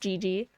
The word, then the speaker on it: Gigi: it's Gigi um Gigi doesn't really have any other meaning other than just being pronounced GG uh however is